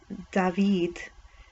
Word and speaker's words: David: One of the two guitar players, David, pronounced David, Mamau, oh, I guess his last name is